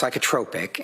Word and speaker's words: psychotropic: It's pronounced psychotropic and okay.